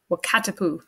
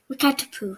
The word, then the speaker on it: Wakatipu: Wakatipu. Wakatipu.